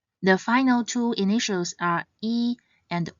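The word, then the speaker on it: 衣: For example, this is the Chinese character for word clothes, and it is pronounced as E.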